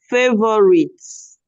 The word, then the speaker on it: favorite: the next um favor favorites okay in this word the O and the U should not be heard it doesn't have three syllables it has two syllables favorite please try it